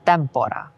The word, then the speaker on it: tempora: Nec tempora. Notice how the 2 consonants, M and P, make the first syllable of tempora long, even though the vowel is short.